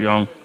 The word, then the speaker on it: Yong: Rob young or Roby I used to think it was Rob Yong but it's Rob Yong but we just say